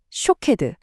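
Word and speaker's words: שׁוֹקֵד: 히브리어로 아몬드 나무를 샤케드라고 하거든요. 그런데 지켜보다라는 뜻의 단어는 쇼케드예요. 어떠세요? 샤케드. 쇼케드. 발음이 거의 정말 거의 똑같죠.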